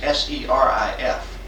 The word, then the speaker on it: serif: But it's pronounced the same way as the word S-E-R-A-P-H, so I hope they both sort of echo together.